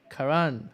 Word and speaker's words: Karan: KingShack619 on Twitter, and Karan. How are you doing? Hey guys, what's going on? I have pronounced that correctly, haven't I? It's Karan. Karan.